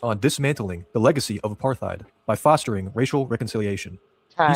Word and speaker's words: apartheid: It's apartheid. Oh. I've never heard it pronounced with the H. That's all. Sorry. Apartheid. Yeah, I've never heard it said that way.